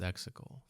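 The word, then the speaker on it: Exegol: Sith but not anymore now it's exical now it's hexical yeah which rhymes with testicle maybe we see xical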